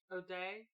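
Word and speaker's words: O'Dea: Odia. Give me a chance to catch up on Google. What's your name? Okay, so we're doing Night of the Living Dead here? Judith Odia. O'Day?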